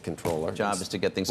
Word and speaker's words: Comptroller: Mis like the British it's a British word that they like did fake french on all right he wants